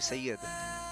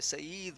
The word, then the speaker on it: सैयद: इस मुल्क में ना इन अंग्रेज़ों से, गोरों से ना सैयद नहीं बोला जाता। आप अगर स्पेलिंग लिखें SYED सैयद, तो यहाँ पे सईद बोलते हैं। हमारे यहाँ सईद एक अलग नाम है, सैयद एक अलग नाम है।